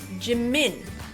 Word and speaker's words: Jimin: go jimin jimin and notice how that first syllable is very short it's almost over as soon as we see it instead of G jimin right so what we want to do in Korean is making sure that every syllable is of equal length so we're going TI mean remember to soften your J C min equal length and another example of